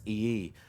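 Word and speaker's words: Iyi: His last name is pronounced E-E, which is spelled I-Y-I.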